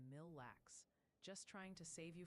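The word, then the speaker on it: Mille Lacs: And a little birdie, for several hundred chatters, mentioned Aitken is more like Aitken, and Mill Lax is Mill Lax.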